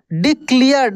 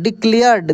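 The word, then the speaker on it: declared: experience स पढ़ रहे एक्सपीरियंस डिक्लेयर्ड देखि सी के बाद नहीं है नहीं ई है नहीं आई है नहीं वाई है तो सी को हमलो क पढ़ डिक्लेयर्ड देखिए अ योंगर वाई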